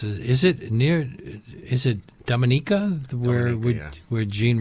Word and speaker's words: Dominica: Kitts is it near is it Dominica the word we're where Jean Rhys was you'll get confused because of the Dominican Republic you know which has a different pronunciation and Dominica and often people in